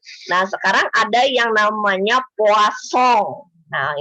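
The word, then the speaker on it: Poisson: sekarang ada yang namanya puaso nah ini bacanya kayak orang Perancis anak-anak ya roasso bukan voice Sorry ya wasong nah jadi telepon song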